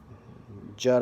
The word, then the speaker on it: Judd: I got Popstar, which, stars The Lonely Island, and it's a Jude Apatow. Yeah, I definitely messed up his name. Judd Apatow.